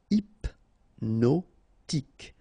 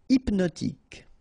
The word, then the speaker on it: hypnotique: Remember, at the end, Q-E, K, tic. So H is not pronounced. Hypnotique. Hypnotique.